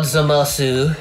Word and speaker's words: Zamasu: You can also go Zamas. Zamas. Yeah, Zamasu. Sometimes the U at the end of these things is actually kind of silent, and you may only say it like if you're like doing something really emphatic. Zamasu! Masturbation! Yeah. Eating chicken wings, ooh! He said to be really emphatic, so.